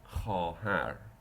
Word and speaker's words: خواهر: Sometimes the same letter is written, but it is not even pronounced. It is silent. Like in the word خواهر.